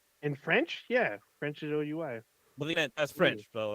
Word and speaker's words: oui: like to say we like it's not it's spelled like w-i or w-e-w-e it's oui like when I what I learned that I